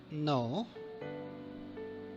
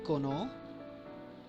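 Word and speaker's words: know: No. Do you pronounce the letter K? Or do you say kono?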